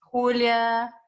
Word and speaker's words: Julia: Julia, J, the J is pronounced like an H in Spanish.